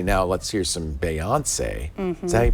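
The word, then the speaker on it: Beyoncé: the ability to say now let's hear some Bayon say so he pronounced it Bayon say that's how you pronounce it that's here you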